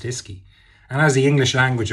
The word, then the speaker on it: uisce: it phonetically and described it as ischi uisce pronounced iski and as the english language evolved from an